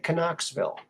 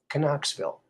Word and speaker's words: Knoxville: people might say knoxville some of those people that like to pronounce the silent letters because we feel like they're being uh discriminated against they should be pronounced they're there let's acknowledge them let's give them a little sound shall we canucksville there we go that